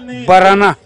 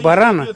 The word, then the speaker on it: барана: барана вручает Как говорит как принято говорить в Бурятских аймах барона такое специальное народное ударение Хотя конечно же правильно будет говорит барана Но вот в районах Республики